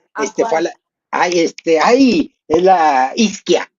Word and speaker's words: Ischia: Oh, this one, oh, is Iskia. It's called Iskia Ischia, it's spelled Ischia.